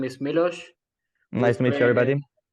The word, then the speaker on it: Miloš: special guest uh from Serbia his name is milosh nice to meet you everybody yeah that's how we pronounce yeah that's exactly how it's pronounced yeah